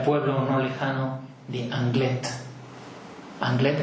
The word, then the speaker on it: Anglet: Anglet con la T pronunciada porque es vasco-francés. Si fuera francés sería Anglet, la T no sería sonora, sería Anglet.